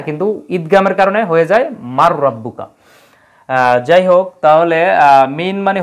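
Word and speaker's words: مَن رَّبُّكَ: রব কিন্তু আমরা পড়ার সময় একসাথে কি বলি মার রাব্বুকা তোমার রব কে কিন্তু শব্দটা কি মান রাব্বুকা হ্যাঁ কিন্তু ঈদগামের কারণে হয়ে যায় মার রাব্বুকা যাই হোক তাহলে মিন মানে হতে রিজুকি শব্দটা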